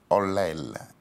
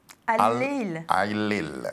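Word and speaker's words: الليل: On va vous retrouver sur 2 titres, Le Temps et un autre titre que vous m'aiderez à prononcer, Olel. Al-Lil. Al-Lil, ça veut dire la nuit en arabe.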